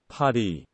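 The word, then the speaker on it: 파리: It's Paris, but it's pronounced like the French way. Paris.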